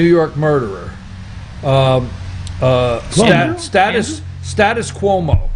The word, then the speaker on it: Cuomo: murderer um status status cuomo see that that way i could pronounce it right if i say status quo status cuomo okay so they passed